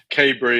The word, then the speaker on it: Kaberry: here today with cadbury am i pronouncing that right you can call me whatever you want i've been called many things in my time but kabry is how i pronounce it honestly it doesn't matter